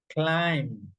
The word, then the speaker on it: climb: So for example, you say bomb climb. Okay? You pronounce until the m in this case.